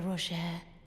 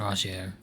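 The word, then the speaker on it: Rogier: These grand affairs are hardly my forte, but dear Roger began to weep. Oh, it is pronounced Roier.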